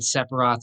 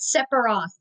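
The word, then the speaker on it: Sephiroth: and I knew why do you keep on pronouncing it separ Roth. Oh my god. Anyways, how is it pronounced? It It's Sepharoth, I think. And how are you pronouncing it? No, he's saying Separ. Oh, Sepharoth. No, it's it's definitely there's a ph, you know.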